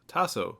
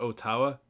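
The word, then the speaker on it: o tawa: wrong Opie says not Otawa and In fairness to it the bot corrects itself and admits its mistake yeah yes you're correct otaw is the correct way to say let's go on tokipona my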